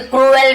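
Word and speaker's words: cruel: ही वॉज अ क्रूल robber, he वॉज वह था, यानी एक क्रूल से क्रूएल भी पढ़ते हैं, क्रूल एक्चुअल प्रोनाउंसिएशन, क्रूल यानी होता है क्रूर, निर्दयी, ठीक है, बेरहम, उसे क्रूर बोलते हैं, क्रूल।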